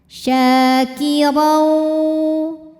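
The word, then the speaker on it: شَاكِرًا: Syakirau. Huruf ra dibunyikan secara tafkhim karena harokatnya tanwin fathah. Cara membacanya adalah ditebalkan dengan cara mengangkat pangkal lidah kita.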